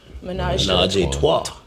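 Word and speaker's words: ménage à trois: Menage a Trois.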